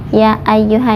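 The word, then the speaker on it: يا أيها: Ya ayyuha dibacanya 4 sampai 5 harokat. Mad jaiz munfasil. Kemudian ai di atas ya ada tasdid, jadi bacanya ditekan ai seperti itu.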